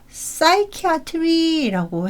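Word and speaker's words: psychiatry: 요거는 뺄게요 중복이 됐더라구요 PS 같은 경우는 사이키 아트리라고 해가지고이 p 발음도 빠지게 되는 뭐 이런 것들도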